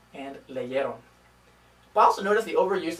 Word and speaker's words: leyeron: This only affects the spelling, and they're pronounced the same way. They're still pronounced leyó and leyeron.